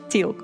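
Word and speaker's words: Teal'c: No, it's it's pronounced teal.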